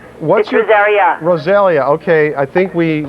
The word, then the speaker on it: Rosaria: Okay, it's Rosaria.